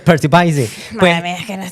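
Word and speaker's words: Percy Bysshe: Hay que hay que pronunciarlo bien para que haga gracia porque es Percy Byy Shelly. Percy by es el Percy Bisy es un poeta que en realidad es un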